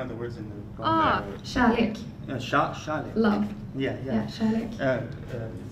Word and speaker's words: kärlek: Scholle is.